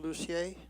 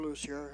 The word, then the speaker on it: Lucier: My name is Lucier, or Lucier, however you want to pronounce it, 654 West Jersey Way.